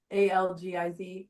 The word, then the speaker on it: Algiz: The closest we have is modern day Icelandic, but if you put the accent on the first syllable, so Algiz, Algiz, Lagus, it doesn't really, it's okay though.